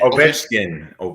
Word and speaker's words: Ovechkin: How you pronounce Alex's last? Is it Ovechkin? Ovechkin.